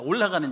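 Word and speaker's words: עֹלָה: 이 번제가 히브리 발음으로 올라거든요. 이게 굉장히 외우기 쉽습니다. 올라가는 제사예요.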